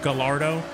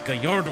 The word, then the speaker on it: Gallardo: Speed Most Wanted when my friends would be like the Lamborghini Gallardo. I'm like it's Gallardo and you got to say it right.